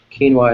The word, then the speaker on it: quinoa: Quinoa is how we pronounce it in English, and it's spelled.